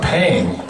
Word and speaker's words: Pang: our last name uh Pang is a Chinese last name and in Korea it's actually pronounced I was like well